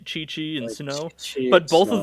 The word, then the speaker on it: Suno: Her name is Suno, and I believe it is just a Japanese pronunciation of snow.